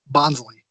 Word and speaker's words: Bonsly: I'm the pre evolution do you say a bonsly or bond sly bonsly good because that is the right way I'm saying it of